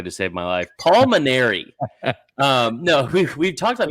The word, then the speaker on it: Mainieri: his name on radio I said manary I added a syllable so there's a lot of vowels bro I'm a mosa I get it people get screwed up but it's maner yeah I'm a marer